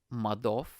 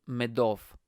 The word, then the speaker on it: Madoff: If it's in Eastern Europe, it'll be OV, Madoff. You know, like I've heard Madoff. So his surname Madoff is pronounced Madov, but I've heard Madoff.